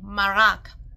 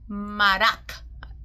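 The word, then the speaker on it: מרק: Marak. Marak. Oh, marak. Like that.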